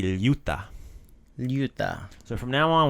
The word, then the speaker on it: ljut: So we have ljut. That's the LJ sound, the same word as in ljubav. Same pronunciation.